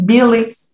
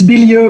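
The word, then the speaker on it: Billieux: psychology at the university of louisiana professor a billix is here to deliver his presentation titled conceptualizing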